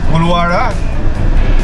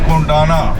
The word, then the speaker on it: Koluwara: This is Koluvara, mispronounced as Kondana by the Buddhists.